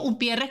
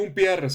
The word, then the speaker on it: Humpierres: Ah, Umpierres con H, señores, no sin H, pero no se pronuncia porque no estamos estamos en Estados Unidos, pero no estamos a sí.